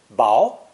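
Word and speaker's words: 雹: raindrops this new character is pronounced second tone bow as you can see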